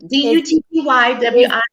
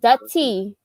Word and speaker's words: Dutty Wine: D-U-T-T-Y-W-I-N-E. It's pronounced dutty.